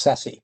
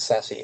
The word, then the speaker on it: SASE: through what is seems to be pronounced sassy depends which country you're from but sassy sase um this is secure access